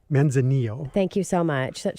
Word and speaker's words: Manzanillo: And did I pronounce that correctly? Manzanillo.